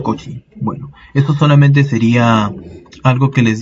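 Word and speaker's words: Cauchy: en donde el apellido su apellido escribe de la siguiente manera coach y pero se pronuncia coach y bueno esto solamente sería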